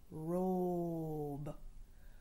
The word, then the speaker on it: robe: try Rob Rob Rob when we add a magic silent E he'll lean over tickle the vowel to say his own name robe robe you can wear